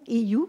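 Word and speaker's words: Eeyou: Joanne Otarais, à côté de Viviane, est une Iyu, on m'a dit la prononciation, Iyu de Waswanipi.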